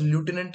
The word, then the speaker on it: lieutenant: It is not pronounced lieutenant in India specifically.